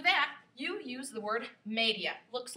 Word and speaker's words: media: okay so for that you use the word media looks like media in english but it's pronounced media okay so if you wanted to say 230